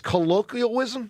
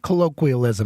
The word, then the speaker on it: colloquialism: Colloialism. Colloquialism.